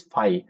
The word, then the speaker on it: phi: FB you can you say this five. This is the brick letter. Okay. You how you pronounce it?